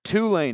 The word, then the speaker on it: Tulane: Tulsa is in there Tulane is in there and yes that's how you pronounce it you emphasize the two I I just do